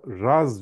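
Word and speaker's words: רז: buna anagram diyorum ben Reş ve zay yan yana gelir ve bu da Raz diye okunur sır demektir zohar kavramının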